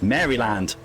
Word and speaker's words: Maryland: You've got no business telling me how to pronounce anything in America. And it's Maryland. Maryland. It's Maryland.